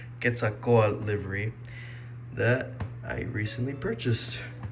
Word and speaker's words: Quetzalcoatl: Hello everyone, I'm back and I'm back to review this Gemini Jets 1/400 scale Boeing 787-9 Aeromexico Quetzalcoatl, that's how it's said in English, Quetzalcoatl livery that I recently purchased.